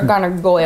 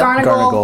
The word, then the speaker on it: Garnagle: Garnagle or Garnagoyle? Garnagle. Like barnacle? But with G's? Yeah, that works.